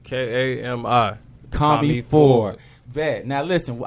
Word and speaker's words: Kami: How you pronounce it? Say it for us. It's Kami. K-A-M-I.